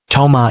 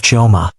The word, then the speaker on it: Chioma: "Chioma," Yuna had said, testing out the maid's name for the first time, but pronouncing it wrong, Toma instead of Chioma, as if the extra syllable made it foreign and therefore lesser.